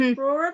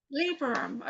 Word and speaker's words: Librorum: Librorum, how do you say that? Librum. Librorum.